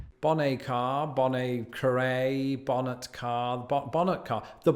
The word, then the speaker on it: Bonnet Carré: So the locals go with something like bonnet carré.